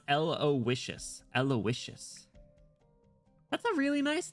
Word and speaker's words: Aloysius: It's pronounced Aloysius.